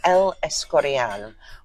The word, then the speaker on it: El Escorial: managed to stop at was How do you pronounce that? That is El Escorial, where a very lovely family friend lives with her family.